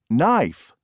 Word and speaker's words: knife: and check your answers number one knife knife k n i f e did you Circle K number two whale